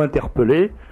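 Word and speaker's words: interpeller: dictionnaire pour le vérifier sécrit inter PE 2 l c'est une c'est une une exception à à la règle de prononciation bien qu'il y ait deux ailes on dit pé non pas P alors tout bon pour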